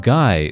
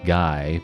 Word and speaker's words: Guy: Guy would be the French pronunciation, not Guy, but, you know, I'm going to butcher it by being English and saying it the English way.